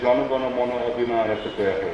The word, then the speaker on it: Jana Gana Mana: They say, Jana Gana Mana, right? That's the pronunciation in Bengali.